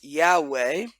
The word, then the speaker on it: Yahweh: would say in English most commonly it is pronounced Yahweh but the Hebrew letters is Yoda hey valve